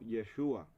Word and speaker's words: Yeshua: Pero en arameo es pronunciado como Yeshua, que es similar al hebreo.